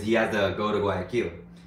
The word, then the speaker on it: Guayaquil: So, because he has to go to Guayaquil. I always want to pronounce it Guayaquil, not because of kill, but because it's just the way that I would pronounce it like in English, like an English accent.